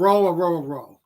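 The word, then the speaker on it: Orhorhoro: He said the H's are silent. So Aurora.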